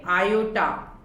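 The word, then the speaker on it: Iota: फिर captain omega, lieutenant आयोटा, that is lieutenant, इसको क्या प्रोनाउंस करेंगे? आयोटा।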